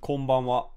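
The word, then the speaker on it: こんばんは: Yeah, Is it pronounced konbanwa? Yeah, it's konbanwa.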